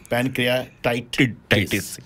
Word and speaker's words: pancreatitis: right but par pancreatitis there's a tit in the word pancreatitis pronounced tight not tit uh if you don't